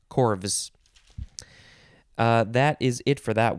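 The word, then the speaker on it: corves: word mmm corv or actually i think it would be corvs or corv yeah probably corvs c-o-r-v-e-s it doesn't say how it's pronounced but it is the plural of korf c-o-r-f which we could probably do a quick check because i think the korf yes plural chords that's how it's pronounced corvus that is it for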